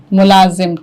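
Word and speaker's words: ملازم: उसके यहां मुलाजिम थे मुलाजिम का सही तलफ आशुतोष मुलाजिम ठीक वर्तिका मुला गुड दोनों ने ठीक बोला अच्छा मुलाजिम अब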